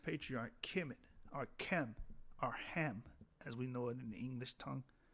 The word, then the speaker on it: Ham: And in the case of Kemet, arrived at Kamat, or Kemet. The name Ham, pronounced Kam, was derived from Kam.